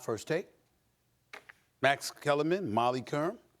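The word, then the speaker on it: Molly Qerim: Max Kellerman, Molly Karam. Oh my God. Okay. Rhymes with harem.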